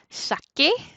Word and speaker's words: saqué: Y para tener este k antes de e, tiene que cambiarse a la QU, ¿verdad?